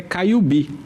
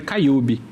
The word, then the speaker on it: Caiubi: Porque a palavra indígena é tupi, o nome Caiubi, né? E aí eles acentuam a última sílaba sempre naturalmente. Então, se for falar a palavra em tupi, é Caiubi. Só que se for ler ela em português, aí é Caiube.